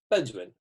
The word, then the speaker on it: benzoin: My favourite essential oil is benzoin.